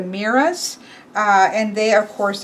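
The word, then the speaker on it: Moirai: Well, I've always just known them mostly as the Fates, and this is pronounced the Miras, and they are, of course, of destiny.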